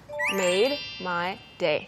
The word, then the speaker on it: made my day: Okay, so if you say it slowly, you know, you say made. There's like a d kind of made.